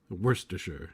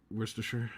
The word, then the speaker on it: Worcestershire: sister shire as worster worcestershire yeah no the shire is just completely gone when it goes about the sauce like is this worster worcestershire yeah that's that's also